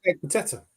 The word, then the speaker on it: Ekpiteta: I think Ekpiteta, or I could never say his name. You got it right, Ekpiteta.